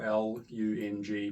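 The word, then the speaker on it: རླུང: call it in Tibetan, lung, spelled r l u n g, pronounced l o o n g, lung.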